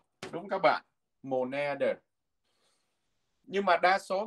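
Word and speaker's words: måneder: Cái này đọc là mồ nè. Viết như thế nào đọc như thế. Mồ nè, âm đê câm nha, đọc là mồ nè. Nhưng mà cái chữ này thường nếu mà mình theo cái quy tắc của tiếng Na Uy thì mình sẽ đọc là mồ nè đờ, đúng các bạn, mồ nè đờ.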